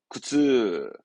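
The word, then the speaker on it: 苦痛: 발음은 구츠. 잊지 마요. 이 쓸 고자 음독은 쿠입니다.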